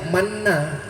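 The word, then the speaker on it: Manna: Saya bertanya karena saya tengok tulisannya mana, tapi cara membacanya mana.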